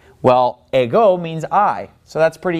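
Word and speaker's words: ἐγώ: am the way now the word a go it gets the accent on the second syllable see that accent is over the Omega hey go Amy L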